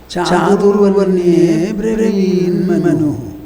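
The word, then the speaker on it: चातुर्वर्ण्येऽब्रवीन्मनुः: So, when you put the agraha, you don't pronounce the a separately. Chaturvarnye breveenmanu. If you add a, one letter will be extra there. And that will be violating the understood meter.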